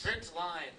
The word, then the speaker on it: println: Println. Can someone verbalize just this word in 1 or 2 syllables? Print line.